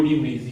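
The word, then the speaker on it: de Vries: दूसरे डीब्रिज साहब थे हॉलैंड, ह्यूगो डी व्रीज, ह्यूगो से एच से याद रखना, इन्होंने काम किया प्रिमरोज पे, प्रिमरोज पर प्रयोग।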